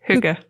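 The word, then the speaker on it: hygge: think Huga really means like what Huga it's pronounced Huga oh I was closed at least I didn't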